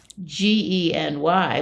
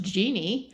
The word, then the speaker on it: Gen Y: are they talking about well the answer was GE N Y which I pronounced Genie no but of course it's Gen Y it's